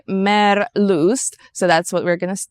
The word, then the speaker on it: Meerlust: that was merust mer they're German so we would pronounce it Mir lust in English reading the word but they say mer loo so that's what we're